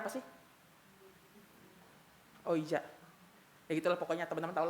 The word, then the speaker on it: Ouija: Bacanya apa sih? Ouija.